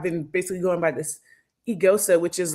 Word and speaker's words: Eghosa: like telling them that technically like the g's kind of silent and the ho sounds like this together you know um and